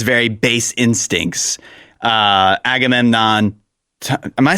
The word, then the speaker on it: Agamemnon: Uh Agamemnon Am I saying it right?